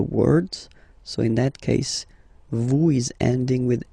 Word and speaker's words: vous: Vous êtes. Same thing here. Notice that final S is not pronounced.